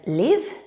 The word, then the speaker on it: live: let's have a look this word can be pronounced as liv and also as live but what is the